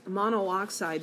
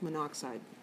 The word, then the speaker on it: monoxide: like manuk side it's monooxide but we don't pronounce the O and so we don't write the double O It's monoxide I won't try to